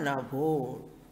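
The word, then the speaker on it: नभो: Yatha Nabho. Nabho means Navaha. Because of Sandhi rule, it is pronounced as Nabho. But when you split it, Navaha.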